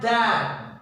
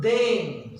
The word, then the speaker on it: than: Now comma is replaced by than. Remember, not then. Some of the students are there, they mispronounce THEN. It's a wrong. We are essential, or it is essential to use THAN than.